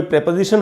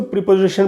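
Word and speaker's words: preposition: और उसमें अगर कोई प्रेपोजिशन हो, प्रेपोजिशन को दोस्तों प्रीपोजिशन बोलते हैं अपने देश में, प्रीपोजिशन, तो उसका जो करेक्ट प्रोनाउंसिएशन है वो प्रीपोजिशन नहीं है, वो है प्रेपोजिशन, तो इसलिए मैं प्रेपोजिशन बोल रहा हूँ।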